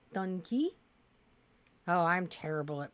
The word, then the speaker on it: Dunkey: mean it's not like it's not dun Kai it's D Dunkey oh I'm terrible at